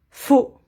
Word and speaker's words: faux: le contraire faux faux on ne prononce pas le x faux féminin fausse fausse ici